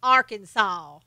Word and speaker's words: Arkansas: I lived in Arkansas just love it is pronounced Arkansas that is it it good bless your heart